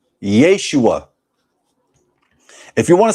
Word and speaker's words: Yeshua: The name of the Messiah, from my research, is pronounced Yahusha, Yehoshua, Yeshua.